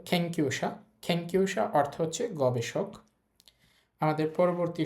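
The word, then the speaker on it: けんきゅうしゃ: এরপরে আছে Q. Thank you এখানে এটা উ এজন্য পরের উটটা আর উচ্চারণ করার দরকার নাই অলরেডি উ একবার চলে আসছে থ্যাংক ইউ তারপর লেখা আছেশা থ্যাংক ইউশা আপনি এটাকে থ্যাংক ইউশা বলতে পারেন অসুবিধা নেই বাট জাপানিজ খ এর মত বলে থ্যাংক ইউশা অর্থ হচ্ছে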